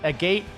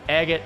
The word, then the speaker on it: agate: agate I was pronouncing agate but I'm wrong it's agate like rhymes with Bob Saget I suck at pronouncing